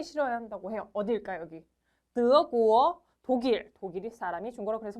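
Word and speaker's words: 德国: 한다고 해요 어디일까 여기 드어 구어 독일 독일이 사람이 중고라 그래서 뭐예요 드어 구어 슉슉슉 올라가는 느낌 살려주세요 한번 더 좋아 넘어갈게요 요거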